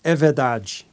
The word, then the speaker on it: é verdade: I remember this term: é verdade which means it's true or that's true So to memorize the pronunciation I thought of "ever Daddy" in my own language and that way I could remember it Music enters our mind